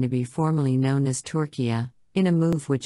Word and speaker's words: Türkiye: united nations asking to be formally known as torquia in a move which its leadership says will